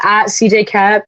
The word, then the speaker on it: CJ Koepp: I'm on social media, CJCap. My last name doesn't make any sense the way I spelled it pronounced.